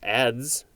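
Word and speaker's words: adze: enter next is a-d-z-e i guess it's just pronounced ads it's also spelled a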